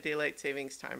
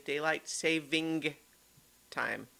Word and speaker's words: daylight saving time: i just even said daylight savings time again i've been trying to say it correctly because the correct term is daylight saving time not savings but ever so many